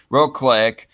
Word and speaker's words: Wrocław: The positions that Kaczynski took Wednesday in a lecture on patriotism in the central city of Wrocław, how do you pronounce that? Wrocław, come before European Parliament voting next month and a general election in Poland in the fall.